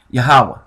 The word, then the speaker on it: Yahweh: Okay, and a Hey is not really Hey, but the pronunciation is a H-A-W, not H-A-V, which a lot of people get mixed up. Okay, now, so basically, that's the name, Yahweh, right?